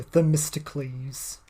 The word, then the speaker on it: Themistocles: I can't pronounce that. I'll say it for you. Themistocles.